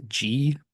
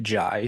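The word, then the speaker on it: Jih: I have mispronounced his name in the past as G, but it's J-I-H, but pronounced Jai, so apologies for getting that wrong in the past.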